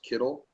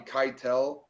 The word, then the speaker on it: Kittle: misspell and Miss like pronounce Kittle yeah I've gotten Keitel I've gotten um people just randomly throwing s Sonic Kittles my high school put